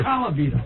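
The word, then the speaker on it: Colavito: Rocky Calvito was a player in the 50s. I think it's Calvito, right?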